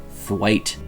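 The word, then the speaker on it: Twatt: He takes on the role of hotel manager Richie Twat, or how he likes to pronounce it, Thwaite.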